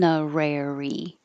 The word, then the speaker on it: honorary: starting with honorary on honorary and the vowel is ah in the stressed syllable so you have to open a lot ah honorary and then just